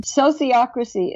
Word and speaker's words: sociocracy: what is this so would you please explain sociocracy is how you say it Gerard herard inden